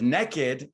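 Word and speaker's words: Nekkid: she's the founder of naked n-e-k-k-i-d which is the only way to pronounce naked mecca a home for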